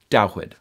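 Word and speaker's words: דוד: Dawid, which is the Hebrew pronunciation for the name we English speakers call David.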